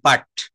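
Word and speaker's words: put: কাট বাট আর এইটা তো আমরা বলতে পারতাম পাট পাট পি ইউটি পাট কিন্তু পি ইউটি আমরা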